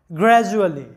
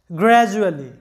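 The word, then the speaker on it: gradually: Vowel এবং পরেও vowel, তাই ডি এর উচ্চারণটা হচ্ছে জ এর মতো, গ্র্যাজুয়ালি। লক্ষ্য করো, গ্র্যাজুয়ালি।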